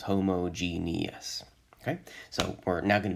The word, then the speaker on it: homogeneous: sure that we all notice that there's an extra e there and that means we get an extra syllable so five syllables homogenious okay so we're now